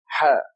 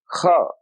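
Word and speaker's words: حاء: They pronounce this letter, which is Ha. They pronounce it Kha, and that is wrong.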